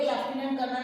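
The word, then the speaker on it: Lieutenant Colonel: बोलते लेफ्टिनेंट कर्नल है। लिखने में दिस इज़ न्यू चीनेंट कॉलोनल। तो बोलते हैं हम लेफ्टिनेंट कर्नल।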